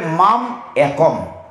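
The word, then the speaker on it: মামেকং: পড়লে আপনি বুঝবেন না, পড়তে হবে মাম একম, একমাত্র আমার কাছে, মাম একম।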